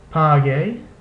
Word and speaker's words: pague: In the configuration ku ue or he ue, the U is not pronounced, and only the second vowel is pronounced.